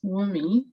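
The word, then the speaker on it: Wunmi: Yeah, my name is Wumi. The N is silent. If you're wondering how to pronounce it, the N is kind of silent.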